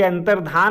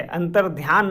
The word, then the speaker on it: अंतर्धान: कि बोल रहा था यह देखिए अंतर्धान होता है अंतर्ध्यान नहीं होता है ना इसीलिए वह बच्चों से कई बार गलती हो जाती है हम लोग बोलते हैं अंतर्ध्यान तो इसीलिए गलती होती